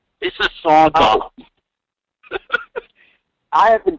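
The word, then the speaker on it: Mississauga: UGA, not GUA. It's Auga, not Agua. Missisauga.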